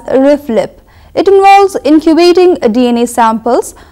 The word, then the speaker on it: RFLP: It's pronounced usually as RIFLIP.